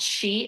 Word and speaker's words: qi: organs and there's something called chi energy which it's spelled qi.